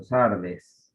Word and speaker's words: Sardes: caso la iglesia de Sardis o Sardes, que sería la forma correcta de pronunciarle.